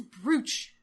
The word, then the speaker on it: brooch: it's so that is brooch I think it's to differentiate between broa ch which is like you broach a subject well they're both pronounced the same and ones just spelt Dunham brooch and I also wrote